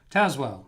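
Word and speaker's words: Tazewell: again uh as well taswell w t-a-s-e-w-e l l pronounced taz as in tasmanian devil uh let's see dan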